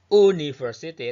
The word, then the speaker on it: university: Seperti dalam kata ini, tulisannya ini, university. Ini mengucapkannya bukan university, tapi university. Ini ada huruf Y-nya ya.